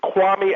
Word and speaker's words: Kwame: Look, people, it's Kwame Alexander. Don't forget it. Kwame. This is a very popular name pronunciation.